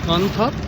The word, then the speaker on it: Can Tho: Hello everyone, and we are inside Kairang floating market, a wholesale market in Kantha, spelled as Kantho but pronounced as Kantha.